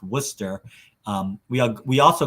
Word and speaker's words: Worcester: worcester polytechnic institute it's spelled worchester but it's pronounced worcester um we are we also go by wpi